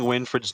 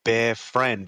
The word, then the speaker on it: Winfred: You guys are pronouncing Winfred's name wrong. It's not Bear Friend, it's Winfred.